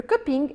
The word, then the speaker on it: cupping: Ce mot vient de l'anglais et on doit prononcer subtilement le G à la fin. Le cupping est une méthode de dégustation standardisée, destinée à évaluer la qualité du café.